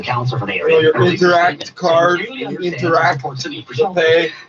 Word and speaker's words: Interac: It's pronounced interact. AC like Slater, air conditioning, not interaction, which has always been under the purview of the Treasury Board, or not.